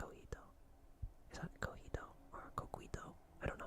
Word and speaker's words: coquito: Coquito.